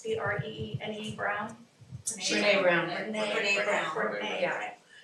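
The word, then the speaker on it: Brené Brown: And then one last thing I just wanted to mention was, Brene, it's like Renee with a B, I'm saying it right, it's Brene Brown.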